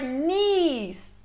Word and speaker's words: knees: Down to your knees. Esse K é mudo de novo aí, ó.